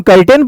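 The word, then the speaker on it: curtain: यू का फर्क है यहां पे इसको हम कर्टेन पढ़ते हैं जो पर्दा होता है ना पर्दा वो और ये है सर्टेन निश्चित अब इस दोनों में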